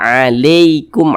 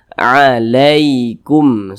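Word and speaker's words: عليكم: maka berhati-hati cara membacanya Jangan baca alikum Ali Ali jangan dibaca mudah lunak saja alaikum seperti itu kemudian di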